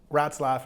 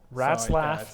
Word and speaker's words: Ratzlaff: What is the phrase you use to remind me? Ratzlaff and mice giggle. Ratzlaff. So, it's easy to remember if you remember that phrase.